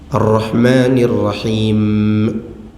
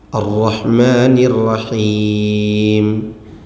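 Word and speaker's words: الرحمن الرحيم: Ar-Rahmanir Rahim, mimnya ditasydid, itu salah. Ya, mungkin dia kepengen kelihatan fasih mungkin. Ar-Rahmanir Rahim, itu tidak boleh. Itu mimnya ditambah, itu ditasydid namanya. Bacanya Alhamdulillahi Rabbil Alamin Ar-Rahmanir Rahim, sesuai dengan hurufnya.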